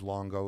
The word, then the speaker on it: Luongo: It's uh my name Steve Longo live spelled with a u and an o l u o n g o uh on Facebook and